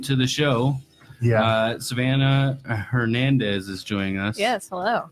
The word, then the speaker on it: Hernandez: Savannah Hernandez is joining us. Yes, hello. Hey. Hernandez, I guess. Really Hernandez. I know you kind of still do that, right? Yeah, I know. Like it's actually Hernandez.